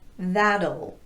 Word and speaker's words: that'll: l so that means the T will be tapped meaning that it will sound like a very light quick de-emphasized d it looks like this that'll the other two words